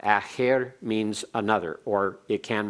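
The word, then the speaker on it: אַחַר: Now please keep this straight from acher as opposed to acher. Acher is a preposition. Acher is accented on the first syllable, and it has a pathak under the haith.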